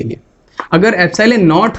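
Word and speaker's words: epsilon: इसको हम क्या प्रोनाउंस करते हैं? एप्सिलॉन।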